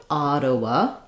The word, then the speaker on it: Ottawa: Probably Ottawa, but maybe Ottawa, depending on where in Canada. And then we'll have the schwa and our wa another schwa. So, Ottawa. First syllable, Ottawa.